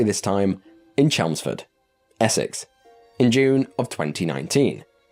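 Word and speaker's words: Chelmsford: include it this horrifying entry begins and I'll pronounce it correctly this time in chelsford Essex in June of 2019 in chelsford specifically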